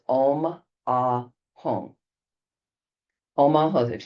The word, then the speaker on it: Ah: At her throat, a red Ah, A-H. Or look at the Ah syllable.